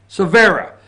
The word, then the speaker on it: Cervera: Looks like Cervera. Cervera. Thank you, Josh.